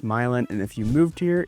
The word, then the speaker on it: Milan: Not Milan, it is pronounced Milan, and if you moved here and you called it Milan, you're gonna get laughed at.